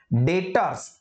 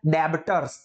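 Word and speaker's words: debtors: expense है manufacturing डेबिट डेटर्स देखो pronunciation में ध्यान रखना कई सारे स्टूडेंट्स उसको डे बिटर्स ऐसा प्रोनाउंस करते हैं तो ऐसा नहीं होता है डेटर्स बी साइलेंट है और ये एसेट है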